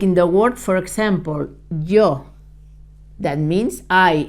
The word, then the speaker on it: yo: this is yo I when it's in front of a vowel the sound is also very similar to the to the English Y in front of a vowel but a little bit stronger like yesterday but putting your tongue touching the roof of your mouth if you say yesterday but with the tongue touching the the roof of your mouth you would say yesterday yes okay so in